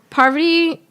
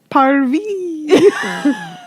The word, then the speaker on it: Parvati: Parvi. I literally You're heard not poverty. saying it right. That's Pavardi. not spelled like that. It's You're, Parvati.